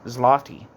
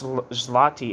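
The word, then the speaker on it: złoty: the enormous cost of 830 to 840 billion zloty.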